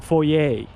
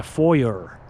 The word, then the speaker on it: foyer: So you walk into a house, it's a foyer. It's not a foyer. It's not a foyer, folks. It's a French word. Foyer.